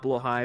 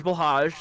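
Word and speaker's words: Blåhaj: one and yes chat I do know it's pronounced below high but I know that war prefers blage so you know I'll go in with him I'll let know so we'll say this the English blage there's no you know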